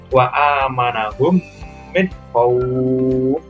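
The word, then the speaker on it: وأمنهم من خوف: Ada fathah bertemu dengan wawu sukun dan di depannya ada huruf hidup yang dibaca wakof. Maka membacanya wa amanahum min khawf. Panjangkan sedikit. Nah, kemudian contoh mat yang terakhir yaitu mat arid li sukun.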